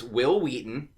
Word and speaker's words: Wil Wheaton: It's Wil Wheaton.